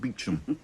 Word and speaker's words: Beauchamp: A lot will depend on Superintendent Beauchamp, pronounced Beecham.